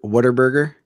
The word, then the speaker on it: Whataburger: the parking lot to Whataburger and brought it back because apparently that's what Texans do I don't know yeah I think you're supposed to pronounce it water water burger water burn oh by